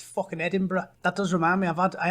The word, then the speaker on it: Edinburgh: And it's not Moscow, and it's definitely not fucking Edinburgh. It's fucking Edinburgh.